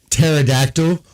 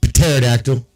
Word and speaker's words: pterodactyl: And pterodactyl. Why is the P silent? Why the is the P silent? It makes no sense. It should be pterodactyl.